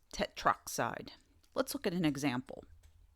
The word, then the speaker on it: tetroxide: Note that the last O or A of the prefix is dropped when the element name begins with O, such as oxygen. This avoids trying to awkwardly pronounce a word like tetraoxide, which becomes tetroxide.